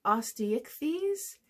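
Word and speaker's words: Osteichthyes: like sharks and Rays the next class is Osteo fees and that is spelled o-s-t-e-i sorry e i c h t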